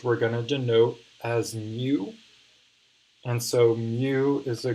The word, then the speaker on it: mu: and so i'll write out kind of the pronunciations a little bit so that's sigma that's mu and for all the pokemon fans out there